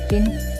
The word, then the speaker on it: Qin: The most famous wall was built between 226-220 BC by the first emperor of China, Qin Shi Huang, Qin pronounced as Qin, during the Qin dynasty.